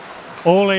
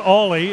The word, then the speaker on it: Ole: Swedish it's not pronounced Ole Ulsing. How's it pronounced in Swedish? Well, the Ulsing is kind of Ulsing, it's Ulsing, but it's not Ollie, it's Ole.